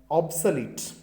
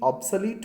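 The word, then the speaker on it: obsolete: पहला जो वर्ड है वो है ऑब्सलीट। इसका सही प्रोनाउंसिएशन जो है वो है ऑब्सलीट। एक बार सही प्रोनाउंसिएशन को जान लें, उसके बाद अपन स्पेलिंग आप देख ही लेंगे। OBSOLET, ऑब्सलीट बोलते हैं इसको, ऑब्सलेट नहीं बोलते।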